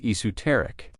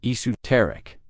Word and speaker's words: esoteric: And it's actually pronounced in 2 ways. In British English, the most common version is esoteric. You will also hear people saying esoteric.